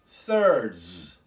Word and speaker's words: thirds: third while this pronunciation two thirds two thirds if you hear carefully you can hear a z sound at the end of the thirds another example our first